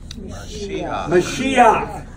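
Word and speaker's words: מָשִׁיחַ: If you have a word and it ends in a het, and under the het is a patak. It's pronounced a certain way.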